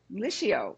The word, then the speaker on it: Liscio: His name is Jared Liio, right? Is that how we pronounce it, Jared?